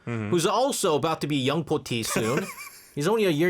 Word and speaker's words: 영포티: Uh in Korea we pronounce it young po tea, but in English it's young 40 and it originally was coined around 2015.